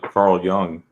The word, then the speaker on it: Carl Jung: and you know everyone should know who Carl Carl Young is pronounced Carl young young yeah yeah he was